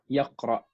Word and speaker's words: يقرأ: آسيا أو شن يقرأ Yaqra. أو يقرأ أو يقرأ. Because we have this hamza here. If we're ending with the pronunciation, yaqra.